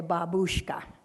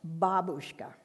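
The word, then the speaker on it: бабушка: It's called a babushka. Grandmother is pronounced differently. Same word. The accent is in a different place. Grandmother is pronounced babushka. This is a babushka.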